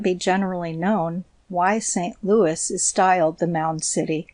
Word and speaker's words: St. Louis: I observed that all the citizens give it the old French pronunciation that is St. Louis. The final s not being sounded.